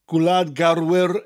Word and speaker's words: garwyr: Gwlad garwyr is a rather long word. Gwlad gar, rhymes with car, wyr. Gwlad garwyr tra, as in the beginning of the word travel.